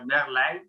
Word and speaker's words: Merlijn: The Dutch pronunciation is? Yes. Yeah. Is that right? Yeah. Okay. I'm Merlijn.